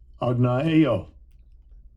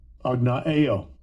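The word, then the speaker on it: ἀγνοέω: Let's see how Esau pronounces it. Strong's G50. Agnaeo. Agnaeo. Agnaeo. So that's how Esau pronounces it, okay?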